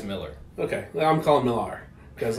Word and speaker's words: Millar: Millar is the correct pronunciation. Is how we're to pronounce it? It's Miller.